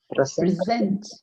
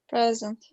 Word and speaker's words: present: When it's a verb, you stress the second part. So let's go back. How do you pronounce this word? Present. Present, because it's a verb. If it was a noun, how would you do that? Present. Present. A present, yeah.